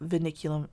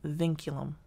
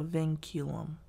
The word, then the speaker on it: vinculum: bar is called the veniculum I don't know why it just is or I'm not so I'm sorry not veniculum vinculum it's a vinculum I always pronounce it wrong so the vinculum is